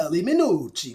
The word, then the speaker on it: Chieli Minucci: heard it pronounced correctly in its Italian authenticity. It's like Yes. Chieli Minucci.